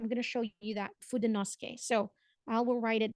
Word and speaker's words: Fudenosuke: Japanese friend that said that you can actually read it as Fudenosuke, but it's kind of like having a very excited tone when you say Fudenosuke. So it's Fudenosuke is the correct way of pronouncing it.